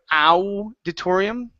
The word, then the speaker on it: auditorium: So right here, instead of auditorium, okay, the AU is going to be an auditorium. Auditorium. Okay, almost. Open up your mouth.